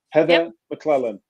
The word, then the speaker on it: Heather McLellan: And am I pronouncing it right? Heather McLellan.